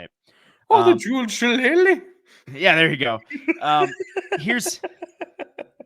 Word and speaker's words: Shillelagh: the name of this rivalry, the Jeweled Shillelagh, and you can never say it properly. There's only one way to say it.